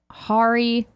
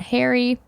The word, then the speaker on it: Hari: Hari, not Harry.